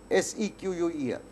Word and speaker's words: SQL: SEQUEL.